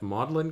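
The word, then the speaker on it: Magdalen: uh Oxford I believe at modlin college is how it's pronounced uh there's a fellowship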